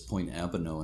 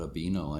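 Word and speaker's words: Point Abino: but i learned that it's point abono and not a beno i never knew how to pronounce that avanach named after a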